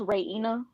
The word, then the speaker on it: Raina: And Raina, is it Raina? How am I saying it right? Well, it's actually pronounced Raina.